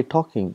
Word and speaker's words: talking: got for example talking we say talking but when you write we write l tall king but we don't pronounce l exactly the same way